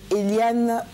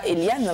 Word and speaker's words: Elian: Je prononce bien? C'est Elian. Mais... C'est Elian, hein? D'accord. Là, j'y suis arrivée. C'est breton. Ah, c'est breton. Voilà. D'accord, donc on ne dit pas Eliane, mais plutôt Elian.